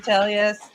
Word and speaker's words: Telles: make don't forget your uh emotion faces Mr Tellus so we did get confirmation of how he of how to uh pronounce his name he pronounces it t yes